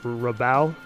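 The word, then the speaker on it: Rabbot: last name is pronounced rabao with silent t uh i mean person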